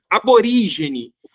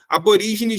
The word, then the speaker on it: aborígene: então então é tão é correto a gente falar aborigene como também aborigene tá com e